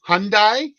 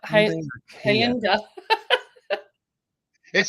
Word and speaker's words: Hyundai: Well, we've got Hyundai or as my sister would say, Hayi or something like that or Kia.